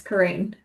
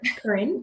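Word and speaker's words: Carine: Everyone thinks my name's weird because it's spelled C A R I N E. Yes. I don't know. Karen, but you you pronounce it Karine.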